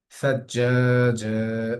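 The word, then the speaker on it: ثجاجا: সাজ্জাজা, সাজ্জাজা শব্দটির মধ্যে যেটা হচ্ছে সেটা হলো জিম, জিমের উপর তাসদিদ আছে, তাসদিদ যুক্ত আসার শব্দ অক্ষর আসার কারণে আমরা এখানে মিলিয়ে পড়েছি সায়ের সাথে জিমকে।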